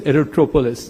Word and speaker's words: aerotropolis: the Bogaparum aerot aerop aerotropolis aerotropolis that's how it's right pronounced and what can we